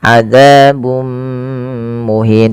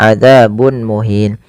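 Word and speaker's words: عذاب مهين: Thai panjangnya dua harakat kemudian adabum muhin ada di sini dmatain bertemu dengan mim yang ini kita namakan dengan bacaan Idam bunah yaitu cara membacanya memasukkan tanwinnya kepada mim dan ditahan adabum muhin tidak dibaca adzabun muhin kemudian melafal muhin ada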